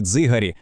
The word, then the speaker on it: дзигарі: Коли ми знаємо, що дзи у слові дзигарі - це один злитий звук, ми відтворюємо справжнє історичне звучання нашої мови.